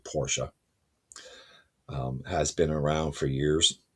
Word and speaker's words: Porsche: Porsche, and the proper way to say Porsche, I know it's going to sound funny. It's actually Porsche.